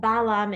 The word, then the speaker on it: Balaam: Bilaam is just the Hebrew and Balaam is the English pronunciation, like David and David.